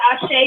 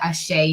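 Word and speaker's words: àṣẹ: and a lot of people see the word ashay they don't know how to pronounce it number one and they don't know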